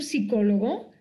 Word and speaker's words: psicólogo: Yo no iría a un psicólogo, aunque pronuncie psicólogo sin P, si me pone en su letrero psicólogo sin P, o sea, no iría.